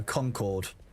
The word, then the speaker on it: Concord: Do I pronounce Concord like Concord or Concord? No, Concord. Like Accord.